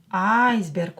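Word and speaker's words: айсберг: Iceberg. Ударение на букву А. Iceberg.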